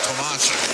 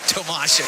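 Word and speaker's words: Tomasek: David has requested it is Tomas. Although well he was okay with either but we had to press him a little but Tomasic would be the proper pronunciation.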